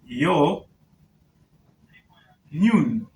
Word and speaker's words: union: Union is pronounced as yo noon. So this is union, but it is pronounced as union, and it has a consonant sound, the first letter.